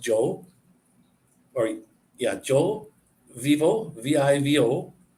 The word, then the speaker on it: yo: Like Joe, Y-O is pronounced Joe, or yeah, Joe vivo, V-I-V-O, aquí.